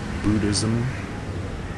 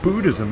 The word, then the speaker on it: Buddhism: It's like the American English way of pronouncing things like Buddhism. And then there's people that go around saying it's it isn't Buddhism, it's budhism. I will never say budhism ever.